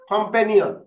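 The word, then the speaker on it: companion: কম ফে নি অন, কম্পেনিয়ন। তাহলে কয়টা সিলেবল বলো? কম্পেনিয়ন, ওকে, চার সিলেবল, চারটা সিলেবল, চারটা syllable, right? কম্পেনিয়ন, কম্পেনিয়ন, কম্পেনিয়ন। হ্যাঁ, কম্পের মধ্যে উচ্চারণটা জুড়ে হবে, ঠিক আছে?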